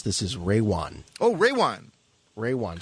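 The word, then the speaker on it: Rejwan: to pronounce this is Ray Juan Oh ray one ray one so the J is silent well okay well you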